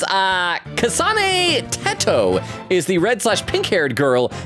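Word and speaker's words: Teto: said redhaired girl is kasani tetto pronounced like in potato okay soato there we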